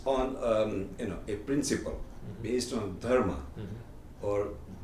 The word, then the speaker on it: धर्म: I would put dharma, and with your wrong pronunciation, you would say dharma. That's a, you didn't know you had a, problem in pronouncing, but anyway, it's a dharma.